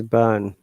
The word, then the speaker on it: barn: Remember that we explained at the beginning that in British IPA we do not pronounce R if there is a vowel sound before R.